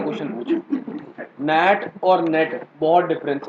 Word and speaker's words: NAT: इसका कुछ ना कुछ फायदा होता है, इसीलिए मैं ये चीज बोल रहा हूँ कि इसको प्रॉपरली नैट प्रोनाउंस करना rather than pronouncing it एज अ नेट, ठीक है।